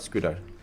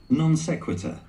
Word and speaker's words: non sequitur: He also went to IIT Delhi, my mother said in a non squeater, not squeater, secutor to pad up my resume. Secutor, let's see the pronunciation of this word. Non sequitur.